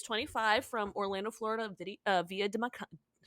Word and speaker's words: Dominica: So, Kirsten or Kirsten Elwin, she is 25 from Orlando, Florida, via Dominicana. Dominica, not Dominicana.